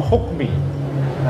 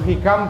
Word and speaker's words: Hikam: judulnya kitab Hikam itu, saya membacanya sebagai Kitabul Hukmi. Ya, bukan Kitabul Hikam tapi Kitabul Hukmi. Atau Syarhul Hikam, Syarhul Hukmi, bukan Syarhul Hikam.